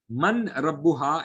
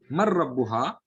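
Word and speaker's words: من ربها: Man Rabbuha, it could become Mar Rabbuha also. Actually, the noon will join with the ra without a gunna. So we will pronounce it as Mar Rabbuha.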